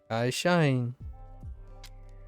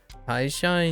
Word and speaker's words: 会社員: 会社員 I shine. I shine. That just sounds like car shine.